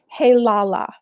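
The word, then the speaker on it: Heilala: for us kathy certainly it's h e i l a l a and it's pronounced hey lala and it's from new zealand ah there you go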